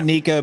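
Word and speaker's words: Neko: Niko rig because that's I say Nico because Neco is Yeah. Oh, okay. I agree. Neco is a 2C. Nico is a 1K.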